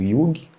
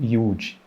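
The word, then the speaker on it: yuj: Dependendo da parte da Índia, essa palavra vai ser pronunciada como yug ou yud, Y-U-J, que significa o quê?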